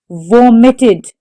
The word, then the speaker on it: vomited: Vomited. The stress is on the first syllable.